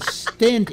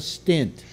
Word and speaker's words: stent: And they put a stent in you, not a stint.